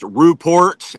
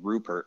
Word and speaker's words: Ruport: I I love I love how you really pronounced Ruport and Oregon. Oregon. Oregon. Yeah. I really appreciate it though. Everybody gets my last name wrong. I've been called Rupert my entire life.